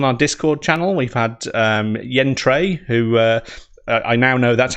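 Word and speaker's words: Yan Cui: I might have referred to him in the previous stream as Yan Kui, because that's how it's spelt. But obviously, Yen is from the east, so his actual pronunciation is Yen Trey.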